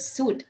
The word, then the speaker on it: suit: Which semi-vowel does the word suit contain? Suit வந்துட்டு நீங்க pronounce பண்ணி பாத்தீங்கன்னா அந்த யன்ற ஒரு சவுண்ட் எங்கேயுமே வரல. ஒரு W ஓட ஒரு டச் இருக்கிற மாதிரியே தான் வந்து ஹோல் வேர்டே இருக்குது. ஸோ W தான் ஆன்சர்.